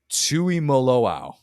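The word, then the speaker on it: Tuimoloau: Cody Simon and JT I'm gonna crush the pronunciation of this wait for it Tui maloa Tu M Tui maloa I think I actually got it right the first time and then I felt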